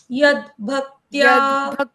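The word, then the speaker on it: यद्भक्त: भक्त यद यद भक्त यहां पे य के बाद आधा द पढ़ना है पहले और फिर भक्त यद भक्त पुंडरी काक्षम पुंडरी काक्षम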